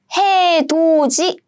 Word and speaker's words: 해돋이: I see 디귿 with 이. So what happens is these are combined as 지. So the pronunciation of this word is 해돋이.